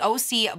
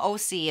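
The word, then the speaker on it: OSEA: um this is the oc blemish balm oh see it's o s e a o c one of you sent me a dm and said that's probably how you say it i don't know but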